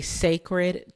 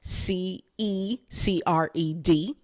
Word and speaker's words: Cecred: Now, I don't know if you know this, but I am titling this episode A Cecred Tortured Poet.